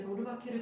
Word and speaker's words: 로르바케르: 정확한 발음이 알리시에 로르바케르였더라고요. 못하겠어요. 저는 로르바가 치는데 로르바케르라는 거더라고요.